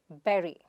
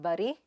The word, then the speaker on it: bury: The next word is be-ree. It is not bary, but be-ree.